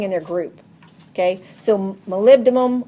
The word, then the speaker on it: molybdenum: their group okay so molybdenum or as you call it Molly B denim so you know how to spell it molybdenum does the